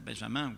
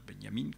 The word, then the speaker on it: Benjamin: autre chose benyamine valter benjamin benyamine comme ce qu'on prononce à l'allemande qui comme vous le